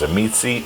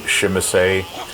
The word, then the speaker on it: Tzimisce: as a native speaker, you will pronounce that word completely differently. I've seen it as Zamitsi, Shimise, Shemise.